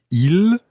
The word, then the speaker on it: ils: So we've got il in the plural, I-L-S, il. Il. But the S is silent unless it's followed by a vowel.